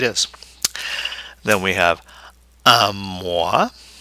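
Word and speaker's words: mois: then we have um mwah mwah a month or does that nasal sound mwah and the S is silent okay there's no e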